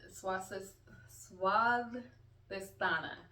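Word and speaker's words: Svadhisthana: So sacral chakra right the swast suadana that's how it's pronounced in Sanskrit.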